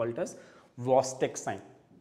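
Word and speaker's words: Chvostek: we call it as VC sign C generally is silent there CH is silent the usual pronunciation is VC sign let us indianized it and call it as chost sign absolutely fine okay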